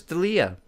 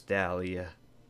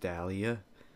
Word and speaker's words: D'Elia: recommend you watch Chris D'Elia and yeah I know his name's not pronounced Dahlia I'm doing it on